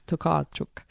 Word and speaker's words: Tokarczuk: I went over the road and asked some Polish builders how you pronounce her name. Now, I can't roll my R's the way that they can, but it's Tokarczuk, apparently.